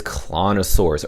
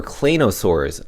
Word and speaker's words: Claynosaurz: going to talk about is clonosaurs or clanosaurs is the right pronunciation now these nfts are